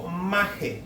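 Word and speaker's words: μάχη: Fíjese bien, pendenciero del griego maje, como suena, con acento en la A, M-A-J-E, maje.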